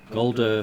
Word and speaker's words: Ghuldur: Golder Flagonfist.